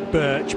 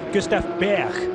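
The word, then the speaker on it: Gustav Birch: You mentioned Gustav, and in English we would certainly say Birch, but with thanks to Jens Jensen, who's a journalist I know from the European Le Mans series, who is Danish, Gustav Berg is the correct Danish pronunciation.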